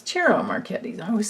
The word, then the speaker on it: Ciro: It's Ciro Marchetti. I always say his name wrong.